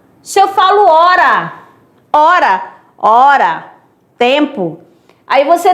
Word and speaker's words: hora: O H não conta porque ele não tem som.